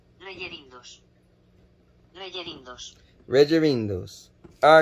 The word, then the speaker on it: Rellerindos: Okay, and how is it pronounced? Rellerindos.